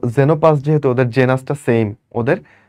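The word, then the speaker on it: Xenopus: আচ্ছা আচ্ছা এখানে একটা ছবি দিছে দেখো দুইটা ব্যাঙ একটা নাম হচ্ছে জেনোপাস এটা কিন্তু এক্স যদি শুরুতে থাকে তারপর যদি ভাওয়েল থাকে উচ্চারণটা হবে জের মত ওকে এটার নাম কি বল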